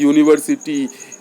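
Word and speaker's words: university: हैं जैसे यूनिवर्सिटी अब यू आया है वावेल है लेकिन उच्चारण जो हो रहा है शब्द का वह हो रहा है यूनिवर्सिटी आपका यू आ रहा है यू लिखेंगे क्या लिखेंगे यू लिखेंगे यूनिवर्सिटी इसलिए क्या लगेगा ए लगेगा इसी तरह आपका यूनियन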